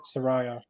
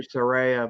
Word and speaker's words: Saraya: Soraya well like that's where that is however pronounced it Soraya uh exactly Saraya but it doesn't matter um but this is